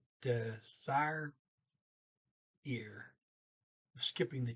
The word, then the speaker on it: dessert: okay, they pronounce it desire, desire. So okay, desire. So Dessert. They pronounce the ER toward the end as R. Did not pronounce the T, so desire or dessert.